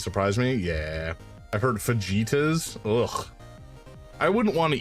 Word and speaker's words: fajitas: It's pronounced fajitas. Ah, I see. Fajitas.